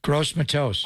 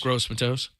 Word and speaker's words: Gross-Matos: What did Harlan say about how did he pronounce that? Gross-Matos. Gross-Matos.